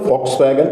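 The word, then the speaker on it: Volkswagen: അതിന്ന് ജർമൻ ഫോക്സ്വാഗന്റെ കീഴിലാണ് അത് എഴുതുന്നത് ഇങ്ങനെയാണെങ്കിലും ജർമൻ ഉച്ചാരണം അനുസരിച്ച് വായിക്കേണ്ടത് ഫോക്സ്വാഗൻ എന്നാണ് മറ്റൊരു പ്രശസ്തമായ കമ്പനി ആയിരുന്നു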